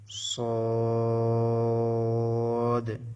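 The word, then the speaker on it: صاد: হচ্ছে একই মাখরাজ তবে সদ একটু মোটা হবে সিন যা চিকন ছিল এখন সদ মাখরাজটা আমরা একটু দেখি কিভাবে সদ উচ্চারিত হয় আমরা এখানে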